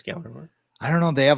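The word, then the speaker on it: Gjallarhorn: No, it's Gallahorn. I don't know. They have a lottery commercial. The J and they is said silent. word. Yeah, I was like, It's like GJALLERHORN. So the J is silent.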